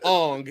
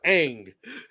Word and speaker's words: Aang: It's not Ong, it's Aang.